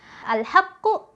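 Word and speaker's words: الحق: tasdidnya baru ke qalqalahnya contohnya di sini ada kata seperti ini ya alhaqqu maka ketika berhenti eh sempurnakan dulu tasdidnya Alhaq alhaqq ya Jadi afofnya ada dua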